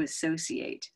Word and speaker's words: associate: change a little to associate but we'll come to that so associate we now know has that open hand on that stressed syllable the second syllable right and if we